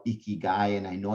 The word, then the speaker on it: Ikigai: So Ikigai is actually a Japanese word, and there's a really easy way to pronounce it, right? Ikigai. Think of a guy who's really messy, Ikigai, right? That's what it is. That's how easy it is.